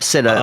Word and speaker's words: Sinner: Yep, Sinner, like SINNER, spot on, Sinner.